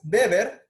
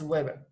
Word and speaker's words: Weber: fue fundada por max weber aunque recuerden que se escriben webber por cuestiones del idioma pues obviamente en alemán se pronuncian beber imax beber va a